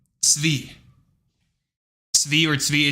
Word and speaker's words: Tzvi: And the TZ is ts, okay? Like pretzel. You right? You can pronounce pretzel, so shut the freak up, okay? So, you got ts like pretzel, okay? And then you got V. And that's it. And then you combine it. Tzvi.